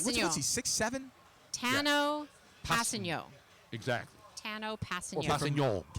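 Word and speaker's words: Tanoh Kpassagnon: he six7 Tano exactly Tano Pas if you want to say the the proper French pronunciation correct because he his dad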